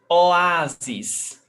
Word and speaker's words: Oásis: Oásis. Paroxítona. So we've got 3 syllables. O, A, zis.